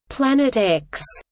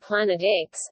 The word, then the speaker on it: Planet X: used by gabriele dalle the X in the name represents an unknown and is pronounced as the letter as opposed to the Roman numeral 410 at the time Planet X would have been the